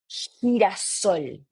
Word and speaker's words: girasol: So if you want to say, for example, sunflower, that one is going to be like this. Girasol, girasol, right?